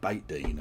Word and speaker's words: Beit Din: It's spelt Beth Den, but it's pronounced Beit Din, apparently.